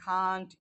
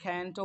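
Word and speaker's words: can't: আমি খেতে পারি না এটা ক্যান্টও বলা যায় কান্টও বলা যায় ইটস আপ টু you which one will you pronounce ঠিক আছে কোনটা আপনি উচ্চারণ করবেন এটা আপনার ব্যাপার ক্যান্টও বলা যায় কান্টও বলা যায় দুইটাই বলা যায় ঠিক আছে আই কান্ট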